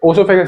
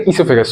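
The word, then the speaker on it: oesophagus: ओसोफेस नहीं इससोफेगस सॉरी। वो जो है साइलेंट है।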